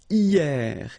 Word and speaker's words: hier: And then the first one is hier. Hier means yesterday, okay? Hier. So remember, this H here is not pronounced, okay? So hier. Then la semaine dernière, okay?